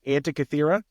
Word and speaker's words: Antikythera: You kept talking about something called the Antikythera Mechanism. Am I saying that right? Yeah. Antikythera? Yeah, I think it's Antikythera.